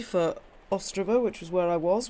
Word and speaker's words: Ostrava: One thing I will say for Ostrava, which was where I was, which I realise isn't pronounced Ostrava, it's Ostrava.